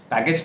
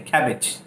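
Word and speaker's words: cabbage: फूल गोभी को कॉलीफ्लावर, और पत्ता गोभी कैबेज, कैबेज, पत्ता गोभी पैकेज, कैबेज, पैकेज नहीं कैबेज, और फूल गोभी कॉलीफ्लावर, पत्ता गोभी कहें या उसको बंद गोभी कहें, दैट इज कॉल्ड कैबेज।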